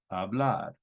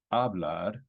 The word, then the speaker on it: hablar: the last syllable right two syllables we've got hablar sounds great it's not hablar so we like it it follows the rule